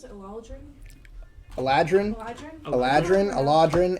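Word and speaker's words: Eladrin: who is also a theologian is that you pronounce it aladrin aladrin aladrin ela dran yes eleatrin she comes kind of from the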